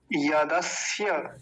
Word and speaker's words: यदस्य: यदस्य स्य पूरा बोलना चाहिए, नहीं तो कुछ लोग बड़ा जल्दी निकल जाते हैं यदस्य यदस्य स यदस्य ऐसा करके, ऐसा नहीं।